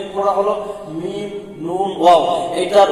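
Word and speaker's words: ن: মিম মিম নুন নুন নুন নুন নুনের মাখাজ না জানলেও নুনের উচ্চারণ হয় যেন নুন না হয় যেন কি নুন নুন ওয়াও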